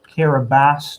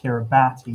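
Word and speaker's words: Kiribati: Uh Comaros, Iran, Bangladesh, Kiraabas, not pronounced Kiraabati even though it's spelled like that.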